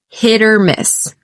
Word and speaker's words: hit or miss: It's a flap T. That sounds like a D. It's quite quick. Once again, I said it was hit or miss. Because the stress is on hit, you could almost barely hear that T running into the O that follows.